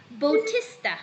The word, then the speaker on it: Bautista: b-a-u-t-i-s-t-a-s that is the bautista you have to pronounce it as bautista okay bautistas can i